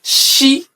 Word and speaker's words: Ṣ: So in Yorùbá alphabet, when you see letter S with dots underneath, it is pronounced She.